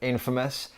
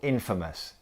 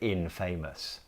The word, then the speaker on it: infamous: note on pronunciation of Infamous the stress is on the first syllable Infamous we don't say INF famous okay let's look at